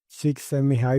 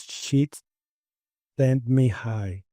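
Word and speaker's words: Csikszentmihalyi: I I say she sent me high because I read a book that he put in parenthesis you need to pronounce it like this and and he put sheet sent me high.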